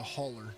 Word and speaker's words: hauler: They'd be in the holler for sure. Or in the hauler. Let me see. Hauler. The hauler? You got to say it right. It's the hauler.